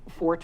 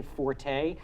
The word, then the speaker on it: Forte: the E and say Forte that is strictly a musical term meaning loud if you're talking about a person's strong suit yeah it's actually pronounced Fort and I have known